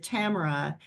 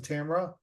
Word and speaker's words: Tamara: seeing what happens with Tamara and the decisions her parents tomorrow I said tomorrow I apologize so you it's Tamara you pronounce a Tamara yeah Tamara yeah thank you for not correcting